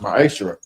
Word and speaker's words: ma'aser: Means 10th means 10th in Hebrew and it's pronounced ma'aser.